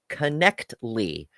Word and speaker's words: Knechtle: Ember and Mark and hail critical thinking it's pronounced connly I was time into iners back in the day okay okay thank you I I really appreciate it that's awesome connly okay gotcha gotcha so I I will refrain